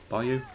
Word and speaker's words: bayou: Whereas even like the bayou bayou, that's how you say it.